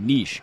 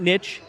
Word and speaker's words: niche: are so few people yes that's how you pronounce that niche not niche niches i actually actually told nixon's getting it